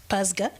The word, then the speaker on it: PASGA: So a little bit about the partnership for African social and governance research in short PASGA.